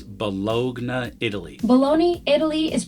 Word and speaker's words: Bologna: Bologna, Italy is pronounced as Bologna.